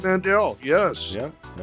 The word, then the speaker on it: Mandl: It's Mandl, like handle.